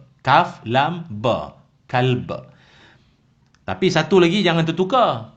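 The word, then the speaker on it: كلب: Anjing ni dalam bahasa Arab disebut kalb. Kaf, lam, ba. Kalb.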